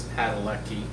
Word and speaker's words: Padalecki: I think it's Padalecki.